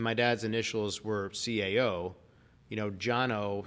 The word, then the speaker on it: Cano: And my dad's initials were CAO, Jono spelled CANO. So growing up in Nashville, everybody's like, Kano, when are you going to play some tennis? Right. So like, no one can pronounce it. Jono with a C, are you kidding? Right. Right? I mean, that's the Armenian pronunciation.